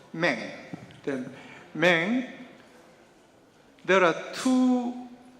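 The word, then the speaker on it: 明: The Myung, in Chinese, the pronunciation the Meng.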